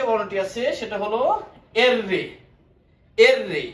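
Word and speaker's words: erre: এররে, এটারে অনেকে আররে বলে থাকে, কিন্তু আররে হবে না, এটার উচ্চারণ হবে এররে।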